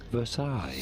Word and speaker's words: Versailles: don't know the correct pronunciation but the correct pronunciation is here treaty of Versailles so a guy named Hitler Adolf Hitler was born on 20th of April 1889 9.